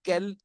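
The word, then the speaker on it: quel: के साथ एंडिंग है, all will be pronunciated as kel, but their usage in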